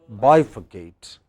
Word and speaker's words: bifurcate: Similarly, next, the third, 2 syllables before ate, bifurcate.